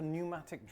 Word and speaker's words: pneumatic: term it's called a Pneumatic drill I think the p is silent p is silent all